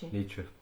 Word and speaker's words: Nietzsche: The philosopher Nietzsche, I think, is that how you say his name? Yeah, Nietzsche.